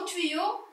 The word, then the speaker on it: tuyau: Donc, le mot tuyau, il contient la lettre Y. On va compter maintenant combien de syllabes a le mot tuyau.